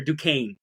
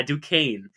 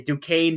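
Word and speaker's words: Duquesne: Dukes they also lost their Duan sorry said it wrong again I I figured out how to finally say it du uh duaine it's how you say Dukane did get the win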